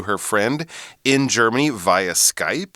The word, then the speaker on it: Skype: her pen pal, on Skype. Yeah, and we've got to say, it's Skype. It's not Skypey. Oh, yes. Yeah, it's a common mispronunciation I've found here. It isn't Skypey, it is Skype.